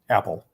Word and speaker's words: Apol: by the name apoll a-p-o-l pronounced apple like the fruit and this was some